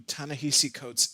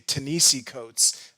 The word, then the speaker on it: Ta-Nehisi Coates: amount of time i didn't even know how to pronounce his name so if in this video you hear me say tanisi codes that's just force a habit but i'm pretty sure i have it down just two to summarize the